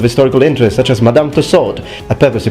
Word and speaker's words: Tussaud: interest such as Madame Tussaud a purpose to pronounce the T because London is not in France if you hadn't noticed